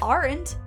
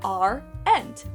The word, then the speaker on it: aren't: Aren't can be pronounced with 2 syllables, are-ent, rather than aren't.